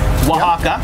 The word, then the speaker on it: Oaxaca: Oaxaca is spelled not in the Spanish language. We did it like this so that people could understand. We did it phonetically.